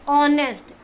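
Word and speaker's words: honest: है, ठीक है, जब आपका कोई भी वर्ड साइलेंट हो जाता है, जैसे देखो ऑनेस्ट मैन, ठीक है, ऑनेस्ट, ओ का साउंड आ रहा है, ऑनेस्ट, एंड आर, आ का साउंड आ रहा है, ठीक है।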